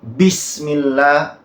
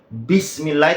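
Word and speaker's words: بسم الله: Oke bismillah dari sini bismillah Ba Itu bukan gitu cara bacanya bukan bismillah tapi bismillah karena ba itu saya tulis di sini sudah memiliki sifat jahr bukan Hames kalau Hames itu mengalir nafasnya jadi Bismillah lah kalau cara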